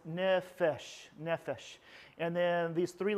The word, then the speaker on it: nefesh: So the main term for Hebrew for the term soul is nefesh. Oops, already messing it up. So nefesh.